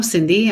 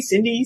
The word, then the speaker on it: Cindy: like that name and it rhymes with sunny or office dog so I mean like I'm in good company Cindy Sunny we're besties so